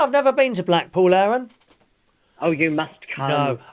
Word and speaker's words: Aaron: which helen is that no alan aaron everybody gets my name wrong yeah it's my dodgy southern accent a-a-r-o-n where's aaron do i